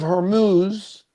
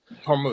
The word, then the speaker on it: Hormuz: H or going to in the straight of Hermuz, is that how you pronounce it? Hormuse. Hormuz.